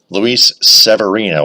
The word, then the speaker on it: Luis Severino: Versus Luis Severino. Luis Severino is how it's pronounced.